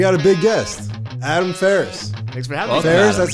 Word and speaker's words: Faris: baby and we got a big guest adam ferriss thanks for having us that's how you pronounce it yes sir i figured i figured